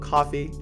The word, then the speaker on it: Ko-fi: Now, be sure to follow me on Coffee, It's spelled like Kofi, but KO-FI.